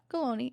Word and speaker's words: Colony: what about your friend mace cologne colony rhymes with baloney yeah but i want